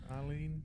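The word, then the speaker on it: Ah'Len: There is green stuff growing all over the walls, and Trip's there with Arlene. Is that how it's pronounced? Yeah, Arlene.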